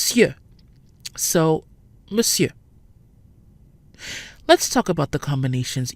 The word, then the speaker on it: Monsieur: should be pronounced on share in reality it's pronounced Monsieur the mo n sounds like mu M plus the fridge e and the second syllable is pronounced here so Monsieur let's talk about the combinations you in and